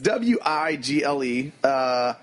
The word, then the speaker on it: Wigle: the day, which is Wiggle. Is it pronounced Wiggle or Weigel? I don't know. I was thinking why. It's got one G. Yeah, so it's Wigle.